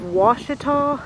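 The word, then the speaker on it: Washita: It's just off of a side road in the little town of Ouachita, which is spelt differently than Lake Ouachita.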